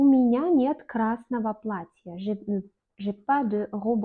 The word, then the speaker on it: красного: Le fameux exemple dont j'ai parlé au début de la vidéo, Ogo, Yego, on prononce comme Ova, Yeva. Par exemple, у меня нет красного платья.